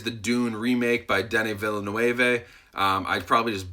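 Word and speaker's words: Villeneuve: dune remake by Danny Villanueva I probably just butchered his name Danny Bella no Ava I think is how you say it but his movie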